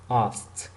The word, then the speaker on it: asked: It's not asked or asked. No, this is asked. At the end is like t. All right. So this is not asked. You can't pronounce the k. It's like as.